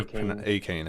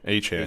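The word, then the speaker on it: Achane: Oh yeah, Acne, yeah, or I can never Akane. I can never pronounce his last name. No, understood. Achan, yeah. is how you say it.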